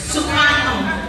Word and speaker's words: Soekarno: Yes, pronunciation Soekarno, but the letters S-O-E.